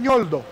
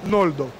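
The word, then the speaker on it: Ñoldo: Então a pronúncia correta do nome dessa letra é Nholdo, não Noldo.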